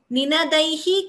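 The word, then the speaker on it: निनादैः: Ninadaihi kakubho vihangaha. I hope that is clear. But when the visarga is followed by ka, we get a jihvamuliya. So that is the pronunciation.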